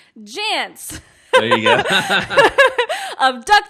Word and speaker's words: Jantz: How do you say his last name? Just like pants, but with a J. Jantz.